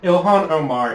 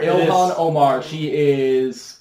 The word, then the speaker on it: Ilhan Omar: Ilhan Omar. Ilhan Omar.